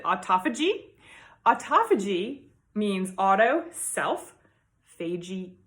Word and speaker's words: autophagy: The pronunciation is in dispute, but I pronounce it autophagy.